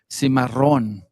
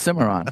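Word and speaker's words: Cimarron: we're going to uh help people uh better pronounce the word simaron instead of just simmeron, right?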